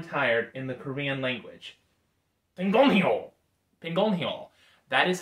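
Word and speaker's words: 피곤해요: Pigonhaeyo.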